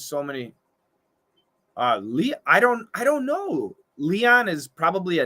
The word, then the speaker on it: Leon: Leon, lion. Leon, lion. Long E, long I.